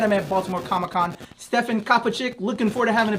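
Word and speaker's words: Kapičić: We are here at Baltimore Comic-Con 2017, and I'm chilling with my man, Stefan Kapicic or Kapicic, it just depends on the pronunciation, but Kapicic is perfect.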